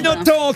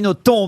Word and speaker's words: Nothomb: consacré tout un dossier qu'on doit prononcer le b de votre nom absolument je fais tout ce que je peux pour que ce bel se prononcer et ça finit par marcher et oui amélie